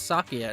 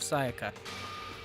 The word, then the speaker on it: Sayaka: her name every day the first time I try to say her name I say it's Satya instead of Sayaka she died in Makoto